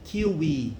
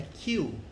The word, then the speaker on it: queue: Essa palavra aqui é fila em inglês, ela tem uma pronúncia muito peculiar, né? Não é kiwi, não, é queue, tá?